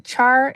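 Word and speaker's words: chaur: Uh it's a char. It's a c h a ur r is how you spell it.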